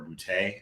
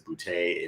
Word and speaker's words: Boutte: am underscore bootay uh b-o-u-t-t-e yes my last name is bootay if it's not funny you're not saying it right that's probably the easiest